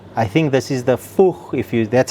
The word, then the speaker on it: Fuchs: I think this is the Fuchs if you That's how you say it, Fuchs style. Fuchs yeah, Fuchs yeah.